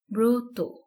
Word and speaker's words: ব্রত: একটি র ফালা আছে এখানে একইভাবে ব্রত সঠিক উচ্চারণ ব্রত এখানে তকার কেন হয়েছে এটি আমরা পরবর্তীতে জানবো